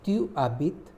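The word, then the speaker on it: tu habites: With tu is tu abit, H-A-B-I-T-E-S. The pronunciation is same as H-A-B-I-T-E, because S we do not pronounce it.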